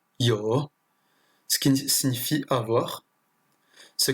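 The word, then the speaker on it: 有: Là, ce caractère se prononce yo, ce qui signifie avoir.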